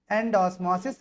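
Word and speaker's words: endosmosis: आपकी बुक में ये दिया गया है, तो प्रोनाउंस क्या करेंगे इसको हम, एंड ऑस्मोसिस एग्ज ऑस्मोसिस, है ना।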